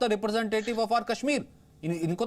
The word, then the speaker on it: कश्मीर: ये काश्मीर नहीं, ये कश्मीर है।